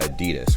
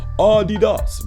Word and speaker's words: Adidas: I'm like, yo, what if somebody pronounced it Adidas? Like, that would be funny, right? Adidas. But then that's literally, allegedly how it's supposed to be pronounced.